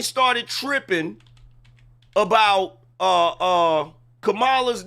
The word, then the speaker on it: Kamala: bet you also didn't know that the correct pronunciation is Kamala not Kamala bet y'all didn't know that that's why whenever